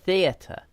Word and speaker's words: theater: yeah these yeah it it's not right to say ds it has to be seas and theater okay the trick is stick out your tongue okay bite your tongue like this okay theater seize okay don't be